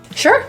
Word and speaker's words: sure: The S in sure is pronounced as an SH. Shh, shh, shh, with rounded lips and tongue pulled back.